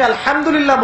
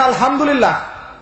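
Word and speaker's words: الحمد لله: হায়ে Houthi, এটাকে বলে বড় হা। উচ্চারণ কোথা থেকে করতে হয়? মাঝখান থেকে। মাশাআল্লাহ। এখানে যদি আপনি আলহামদুলিল্লাহ বলেন, অর্থ হচ্ছে সমস্ত প্রশংসা কার জন্য?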